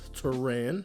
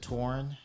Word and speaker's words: Toran: most people pronounce it tauren which i mean if there was a o at the end like i could understand but like literally there's an a in my name like it's literally like